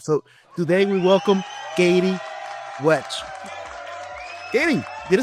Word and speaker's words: Wetch: So today we welcome KATIE WETCH. KATIE, did I say what right your last name? KATIE WETCH? Yeah, I said WETCH.